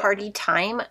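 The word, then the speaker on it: Party Thyme: So Party Time. It's like a nice gold green shade, but it's spelled like time, like the herb.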